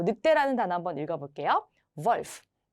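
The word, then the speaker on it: Wolf: 단어 한번 읽어 볼게요 volf WF 이번에는 자음이 두 개 따라왔기 때문에 짧게 읽으시면 되겠죠 그래서이 는요 주의하셔야 될 점이 V 발음이 난다라는 거 꼭 기억해 주세요 그다음에 어 스라는 알파벳이었습니다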